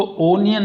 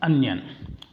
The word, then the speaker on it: onion: इसको ओनियन नहीं कहते, स्पेलिंग के हिसाब से नहीं बोलते, शुद्ध उच्चारण इसका अनियन।